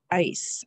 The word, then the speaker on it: ice: Next word is ice. I like to put ice in my water. Ice, one syllable. The first sound is I. It's the letter I. Ice. C to say. Then I have an E. The E makes the I say I, and it makes the C say.